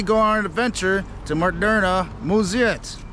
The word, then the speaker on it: Moderna Museet: on an adventure to murderna muziet that's how you say it in swedish i think um so speaking